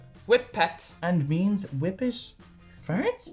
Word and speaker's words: Whippet: These marshmallowy treats is pronounced whip pets and means whip it furs.